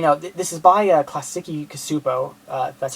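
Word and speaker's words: Klasky Csupo: i figured you know this is by a classic cosupo uh that's how you pronounce the name uh same people who do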